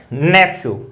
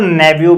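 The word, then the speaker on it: nephew: देखिए ये नेफ्यू में जो PH साउंड है उसको F भी लिखा जा सकता है और उसको V भी लिखा जा सकता है। दोनों ट्रांसक्रिप्शन है वो सही है, नेफ्यू भी सही है और नेव्यू भी सही है।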